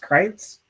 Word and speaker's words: Kreitz: Is it pronounced Kreitz? Yeah, you got it.